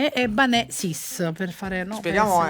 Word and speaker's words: Ebbanesis: Un po' strano, abbiamo cambiato l'accento però, perché si dice Eban e Eban. noi invece abbiamo cambiato, abbiamo messo l'accento sulla seconda e quindi Ebanè, no? Ebanè sis, per fare, no?